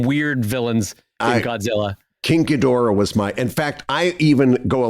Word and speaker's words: Ghidorah: Well, it's been pronounced one of either way, because they had to do the lip sync differently. So depending on the movie, so it was either Ghidra or Ghidorah, which 2-syllable or 3-syllable.